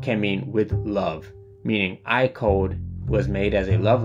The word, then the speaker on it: AIKODE: is I code pronounced iode kind of similar to how you pronounce the name IO oh that's the answer